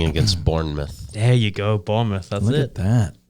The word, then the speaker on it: Bournemouth: bournemouth there you go bournemouth look at that look at that excellent pronunciation as well born mouth all right uh that